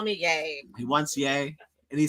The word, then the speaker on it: Ye: all my name is yay it's pronounced in parentheses y a y like Yay like yay for me wait the parenthesis is